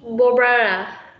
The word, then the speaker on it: Barbara: It's Barbara. Barbara. Barbara. Bar. Bar. Yes, bar. Okay. So maybe you pronounce the word B-O. It's B-A. Bar.